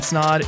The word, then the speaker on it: Snod: everybody my name is Ryan snod it rhymes with odd and welcome to the